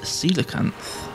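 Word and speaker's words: coelacanth: think it was uh it's actually pronounced silicanth unless they're winding me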